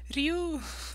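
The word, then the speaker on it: 竜: And he was saying Ru, Ru, Ru. Ru means dragon. Ru means dragon. I was like, no, Ryu, Ryu. Please, for God's sake, stop saying it wrong.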